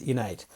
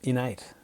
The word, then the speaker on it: InEight: love your name because it sounds like the word innate which is you know i double and ate which is sort of an inborn natural ability but what's the story behind the name innate yeah it's an interesting